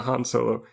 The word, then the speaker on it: Han Solo: have this argument with my friend who is convinced that it's Han Solo, even though pretty much everybody else pronounces it Han Solo. Lando very clearly calls him Han, though, and that causes a huge amount of confusion.